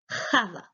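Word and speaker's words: חוה: The modern Hebrew pronounces it as Chava. Chava. It is written Chet Vav He. The X in Ewe is the same sound as the Chet sound in biblical Hebrew.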